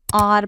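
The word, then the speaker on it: hour: जैसे आर, इसमें H silent है, इसको हम आर प्रोनाउंस करते हैं जिसमें ओ की साउंड है, इसलिए हम एन आर बोलते हैं।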